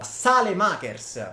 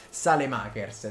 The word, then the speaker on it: Saelemaekers: Saelemaekers, io vorrei sempre precisare che questa è la pronuncia corretta, Saelemaekers, senza andare a Saelemaeker o robe strane, Saelemaekers.